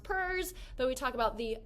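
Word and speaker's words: PERS: political economic religious social p-e-r-s i know it's pronounced purrs but we talk about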